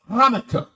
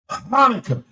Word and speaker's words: Hanukkah: You h like in the word Hanukkah. Hanukkah spelled with a ch. But you don't pronounce the ch or cl.